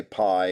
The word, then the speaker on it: Pie: list denzer guzman alejandro i'll say pie because that's how it's spelled adley rushman high five